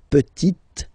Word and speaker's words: petite: Le petit fils, and then the feminine form, la petite. So I insist because here it's t. Okay, so really you need to make the difference between the masculine form petit and then the feminine form petite.